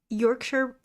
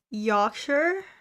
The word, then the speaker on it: Yorkshire: Don't roll your tongue as much when you pronounce R. Yawn. Yawn without the N there, then sure. Yorkshire?